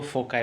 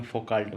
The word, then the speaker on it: Foucault: mind को हिला देगा कुछ लोग उसको फोका बोलते हैं जब मैंने शुरू शुरू में पढ़ा तो इंग्लिश का जैसा प्रोनाउंस तो मैं फो काल्ट बोलता था मेरे मन में भी फो काल्ट है आपके लिए फोका तो फोका साहब बहुत